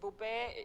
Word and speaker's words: Bupe: Yes, Bupe, she's from Zambia.